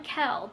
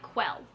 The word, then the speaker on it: Quell: not know yeah young Kel but like it's spelled like quell because it's short for Raquel and the entire book up until someone says her full name I was pronouncing it like quell like you know it's